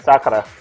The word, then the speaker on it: Sakura: Sakura, that's how you say it. Sakura.